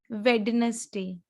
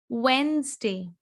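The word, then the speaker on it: Wednesday: लेट me tell you, the correct pronunciation is वेंसडे। वेंसडे, जैसे कार होती है ना, बेंज, बेंज, ऐसे ही वेंस, वेंसडे, वेंसडे, समझ रहे हैं?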